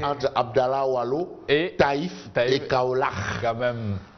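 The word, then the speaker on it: Kaolack: Peut-être qu'il est entre Abdallah Wallo, Taïf et Kaolach. Quand même. J'insiste sur la prononciation Kaolach. Kaolach. C'est pas Kaolach. Non. Kaolach.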